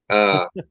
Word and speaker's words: Isla: Isla with the L silent. Yeah. Who knows? You mean the S? Yeah, the S is silent.